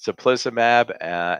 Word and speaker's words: teplizumab: that the FDA approved a new drug called teplizumab. If you see how it's spelt, it's not so easy to pronounce, but it's teplizumab, and it is going to be marketed as sealed.